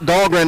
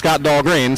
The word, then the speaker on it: Dahlgren: We've been saying his last name wrong. It's Scott Dahlgren, not Scott Dahlgren.